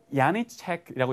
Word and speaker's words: Janacek: 독일의 여류 작가라서 이분이요 야니체크라고 얘기도 맞아요. 그러니까 우리 J를요 독일 그리고 스페인 이쪽에는요 약간 이응으로 J가 아니라 이응으로 발음하거든요.